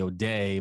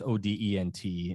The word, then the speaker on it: Odent: And there's an OBGYN in there, a doctor, I think you say O'Day, but it's Odent is how you say it, but he's French, I believe.